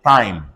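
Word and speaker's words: thyme: ordinarity pay attention to um t-h-y-m-e everybody say time on c-h-e-m-e everybody say tame c-h-o-m-a-s-c Thomas one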